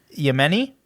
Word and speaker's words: Yemen: in the this one I don't know how to pronounce in the yeni district y yeni was it y m i n i y m n i yeah Yemen Yemen yeah District of uh Arabia